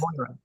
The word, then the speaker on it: Moira Casey: It's Mora, not Yes, Moira. Okay, that's Moira right. Casey.